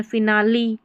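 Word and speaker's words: finale: देखिए फिनाली, यहाँ पर उच्चारण है फिनाली, ली है ना, ई का उच्चारण।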